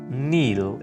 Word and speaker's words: kneel: Kneel, घुटने टेकना. Kneel, इसमें जो के है वो साइलेंट है, इसको हम kneel बोलेंगे.